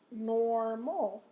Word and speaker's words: normal: Normal. OR is in the first syllable. That's where your stress is.